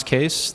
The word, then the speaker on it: Kees: Pronounce Kees.